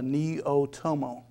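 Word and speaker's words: Neaotomo: viewers and the readers how do you pronounce that neo n-e-a-o-t-o-m-o it's a neo-tomo neo-tomo neo tomo had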